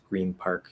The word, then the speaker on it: Green Park: like green park yeah that's shifting n and then a p after it you can shift the n into an m green park yeah it's very normal you can keep the